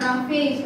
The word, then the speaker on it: roughage: That is pronounced as roughage. R-O-U-G-H-A-G-E.